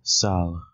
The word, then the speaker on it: sal: word for color is Sal and the plural would be Sal a this is not pronounced like sail again spelled in English